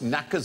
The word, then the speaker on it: knackers: Welcome to QA, where tonight the K is silent, as in knits, knots, knackers and knobs.